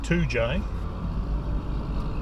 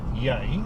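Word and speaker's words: Toodyay: This is just entering the town of Toojay in Western Australia. It's spelled T-O-O-D-Y-A-Y, Toojay. It's a bit of a touristy sort of place, this.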